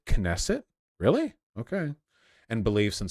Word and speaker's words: Knesset: individual's personal thoughts um pronounce the k and nesset knesset really okay and beliefs